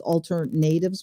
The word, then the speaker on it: AlterNatives: is alternatives but it's spelled like alternatives but it's altered natives with a capital n um and so coming